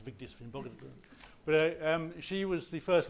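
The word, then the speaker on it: Vigdís Finnbogadóttir: In 1980, in Iceland, you had Vigdis Finnbogadóttir, who I mentioned partly to show off that I can pronounce Vigdis Finnbogadóttir.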